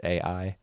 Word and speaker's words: Ai: how you say it you don't say I like the word like the Japanese word for love right it's a i it's AI yeah I figured I didn't